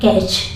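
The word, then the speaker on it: catch: कैश में भी देखेंगे सी एच के पहले अगर टी हो तो साइलेंट होता है इसलिए इसको पढ़ा जाता है कैच स् ही च स्टे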